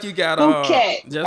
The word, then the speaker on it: Phuket: I done been to Phuket. Thailand too, down on the south end. That's beautiful. But that was Dang, more, that's how you pronounce it? Whole time I'm saying fuck it.